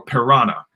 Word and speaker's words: piranha: a brazilian pronunciation for piranha or the correct pronunciation for peranja rania piranha because when you have an n followed by an h it's like a an n with a tilde in spanish i'm fine like caipirinha